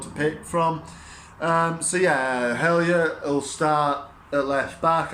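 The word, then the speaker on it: Hjelde: I think he'll go with Hellier. I think his name is, or Hajelde, some people might know him as, but I think the correct pronunciation is Hellier.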